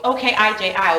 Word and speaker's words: Okiji: Yeah, so I will spell O-K-I-J-I, Okiji, as Okiji, O-K-E-E-G-E-E.